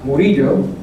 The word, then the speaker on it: Murillo: I'm triggered into my last name is pronounced burrito the double a disciple